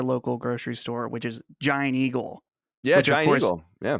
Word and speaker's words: Giant Eagle: giant eagle yeah yeah pittsburgh people can't even i mean they say it their way i was gonna say they don't say it right but they say it their way it's john eagle so i hate that